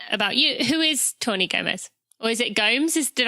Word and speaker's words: Gomes: Who is Tawni Gomes? Or is it Gomes? Did I say it right? It's Gomes. It's Portuguese. Gomes.